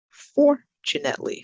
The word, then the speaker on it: fortunately: surprisingly surprisingly predictable predictable fortunately so that's on the first sound or syllable four genetically we go